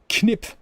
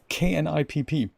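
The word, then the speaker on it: Knipp: in Bremen, we call knip, K-N-I-P-P. Or you probably pronounce it nip in the English-speaking world. It's got a K at the beginning, and we would actually pronounce that knip, and it is essentially the same thing.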